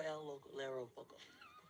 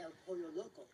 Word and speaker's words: El Pollo Loco: So she's working for El Lero Poco. It's El Pollo Loco.